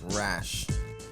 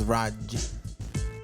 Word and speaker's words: Raj: DJ Raj is one of the I think you're pronouncing it like Rash. DJ Raj. Yeah, like it's Raj. Oh, Yeah. Raj. No, Raj. DJ Raj. DJ It's like a Raj. J, not like a S-A. No, there's a Raj. There's a Raj. There's a J sound.